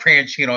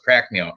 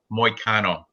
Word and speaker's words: Moicano: It's not Prancino, it's Pracneo. Anyway, Moicano.